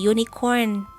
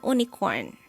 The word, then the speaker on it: unicorn: awalnya huruf vokal karena University dibacanya dari huruf y atau Y universary sama kayak yunikon dibacanya Jadi yunikorn bukan Unicorn Lalu kenapa kok naurel